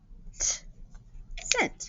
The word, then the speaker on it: scent: person by her scent scent sound okay this is our spelling pattern f okay so this digraph the c is silent sent now this is